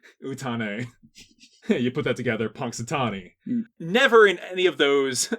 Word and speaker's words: Punxsutawney: You might not hear it phonetically, but there is an X in the middle of the word Punxsutawney. Yes. Punxsutawney, it comes from the two words in the Algonquin language.